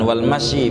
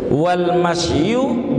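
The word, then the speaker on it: والمشي: kemudian ini yang he dibacanya yang bagus walmyu at kepada Amru jangan walmyi bacanya Wal masyu bainasfufi begitu yang bagus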